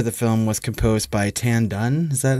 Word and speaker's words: Tan Dun: the music for the film was composed by Tan Dun is that how you say his name oh it's a tendon yeah I mean Oscar winner right for Crouching